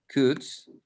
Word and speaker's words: could: pronunciation the right pronunciation could okay we don't pronounce the letter o we don't pronounce the l okay could um we